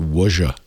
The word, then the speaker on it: Ouija: become a by the way uh stacey that's pronounced wonja should i become a podcaster it's a worship